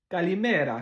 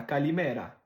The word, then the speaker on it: Kalimera: Puis finalement, en grec, Kalimera, Kalimera. Tu mets l'emphase sur l'avant-dernière syllabe. Kalimera, Kalimera.